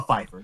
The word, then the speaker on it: Pfeiffer: diary of something / Pfeifer like Michelle Pfeiffer but the joke is you know it's a PE run of it so it's uh Pfeiffer that's how it's pronounced but it's a TV